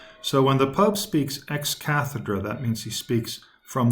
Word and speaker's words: ex cathedra: moments the Pope teaches ex cathedra I'll spell it out for you e X space C athe DRA now that word sounds a lot like Cathedral right because the Cathedral that